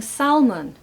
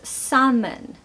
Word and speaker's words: salmon: B doubt number nine salmon how many people are staying Salman I hear this all the time okay it's salmon I'm actually having salmon for dinner number 10.